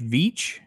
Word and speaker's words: Veitch: And I know, I may say his name wrong. Is it Rich Veitch?